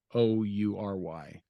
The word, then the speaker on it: Khoury: Khoury, something like that. It's Khoury.